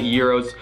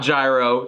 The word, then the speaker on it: gyro: this place they get euros delivered for lunch it's not gyro it's euro pronounce it right come on i don't